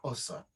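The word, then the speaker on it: Xhosa: apologize if I don't, Osa, which is spelled Xosa. If you had to put it into Roman script, English script, but the sound that would be the sound of it, and that's a Southern African one.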